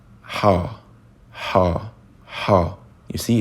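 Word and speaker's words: ح: The first letter, I will just tell you the pronunciation. Ha, ha, ha. You see, it's a difficult sound and it's not present in the English language. Ha.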